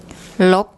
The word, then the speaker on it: ลบ: ลบ ลบ ลบ So what you should have heard then from Pom is the correct unreleased pronunciation of final consonants in Thai.